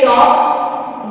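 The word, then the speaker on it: chalk: एल एफ हाफ सी एच ए एल ए चौक वाई ए एल के या पी ए एल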